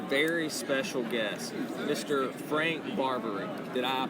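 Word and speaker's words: Barbiere: with me a very special guest mr frank barboury did i pronounce it correctly frank very close it's frank barbarian frank barberry i can edit that out or you said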